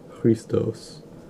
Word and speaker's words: Christos: Like, I think they just called him in Greek, like, Christos. Or actually the accent would be on the second syllable, so Christos.